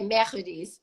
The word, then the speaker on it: Mercedes: to say it, so I say Mercedes. Is that right? That sounds French. That's how you say it.